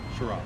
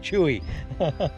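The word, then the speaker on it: Cheraw: Nancy keeps mispronouncing it. Chewie. What is it? It's Shira.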